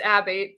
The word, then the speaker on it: Abate: It's Abate, but I'll get to my opening shift here,